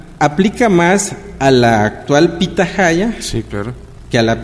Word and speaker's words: pitahaya: el caso de Yucatán la H no es muda suena como J entonces pitahaya en maya se llama pitahaya pero es una forma